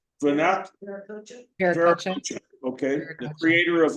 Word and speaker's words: Viracocha: I appreciate also your direct messages that you got from the source, from how did you pronounce Vanath? Viracocha.